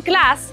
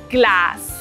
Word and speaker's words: Glas: Y en Glas, la G fuerte, Glas.